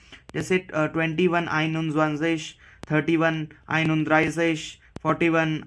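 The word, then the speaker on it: einundzwanzig: तो प्रोनाउंस कैसे करते हैं इसको? आइन उन ज़्वांज़िश. जैसे कि हमने देखा, प्रोनाउंसिएशन सेम है और लिखने का भी एक पैटर्न है.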